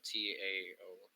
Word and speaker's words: Tao: It's pronounced usually with a D.